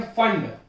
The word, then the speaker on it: Pfund: फिर बोलते हैं फंड, PFUND, P साइलेंट है।